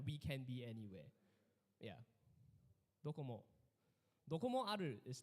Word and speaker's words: Docomo: So Docomo is spelled with a C here, but actually this is a Japanese company. So actually it's Docomo. So it's Dokomo, and Docomo means anywhere, to be anywhere, like we can be anywhere.